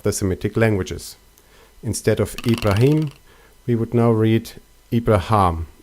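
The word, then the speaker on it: إبراهيم: In Arabic, they are pronounced as Ibrahim and Shaitan.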